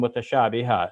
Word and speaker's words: متشابها: And now here, because I stop in the Arabic, I'm saying mutashabiha. So when we have that an sound at the end and we're stopping, we make it as if it's a long A.